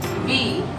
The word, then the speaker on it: wie: Wie geht es dir? Wie, like we, the alphabet which we have in English.